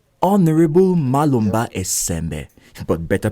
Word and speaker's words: Esembe: Honourable Malomba Esembe, but better pronounced Esembe, grew up in a modest home.